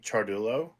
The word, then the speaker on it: Ciardullo: is uh Chulo for those of you that don't know how to pronounce my last name charul that would be me yeah it's it's Italian so just like cha is spelled that's how it's said CH uh Chulo I play in a